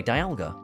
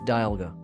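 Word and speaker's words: Dialga: Anyway, Dalga. And yes, it's Dalga, not Dalga. It's Dalga because Well, technically it's Dalga. Dalga. It's like the dial of a clock cuz it's the time poke.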